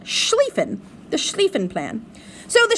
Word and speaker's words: Schlieffen: It's pronounced Schlieffen, the Schlieffen Plan.